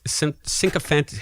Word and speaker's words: sycophantic: Is it not sycophantic? It's sycophantic in British English, but it could be sycophantic.